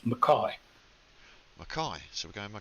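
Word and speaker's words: Mackay: ma c ka y which sounds like it should be mckay but it's pronounced McCoy okay so we go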